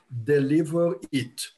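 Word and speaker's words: dlvr.it: them that i'm using it's called deliver it let me spell it for you d l v r dot i t deliver it d l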